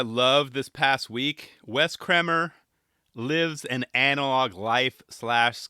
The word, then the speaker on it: Kremer: I swear I said Kremer on a previous episode. It's still hard for me to say that. And everyone thinks it's Kramer, like as in Seinfeld.